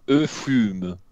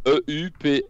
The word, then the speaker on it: euphuisme: Eufume. Attends, ça... Comment tu dis? Euphuisme.